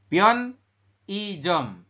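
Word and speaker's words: 편의점: einya di tengah ya jadi nanti ini dibacanya adalah i bukan e seperti itu mas Wahidin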